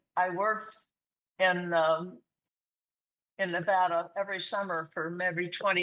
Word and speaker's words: Nevada: They try to give it the Spanish pronunciation, which is not correct.